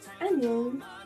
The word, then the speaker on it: 안녕: Pour la façon informelle, cela se prononce annyeong, s'écrit comme ceci, en alphabet coréen, le hangul, et cela se décompose en deux parties, an et yang.